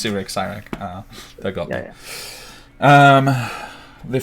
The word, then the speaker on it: Cyric: Well, do you know who Cyrak is?